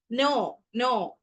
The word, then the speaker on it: know: ignore பண்ணித்தான் pronunciation பண்ணுவோம் நோ நோ KNOW நோன்னு சொல்லிக்கல வந்து நோன்னு தான் ப்ரொனன்சியேஷன் பண்ணுவோம் ஆனா அந்த கே இந்த சத்தம் வந்து அங்க இருக்காது அதே மாதிரி சில வசனங்கள் சில சொற்கள்லயும்